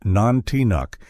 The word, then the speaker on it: Nantinak: The tales of Nantinak, pronounced Nantinuk, have been whispered among native Alaskans for generations.